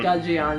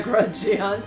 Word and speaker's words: Gudgeon: Oh no, it's a Gudgeon. It's not a Grudgeon. There's no R in that sentence.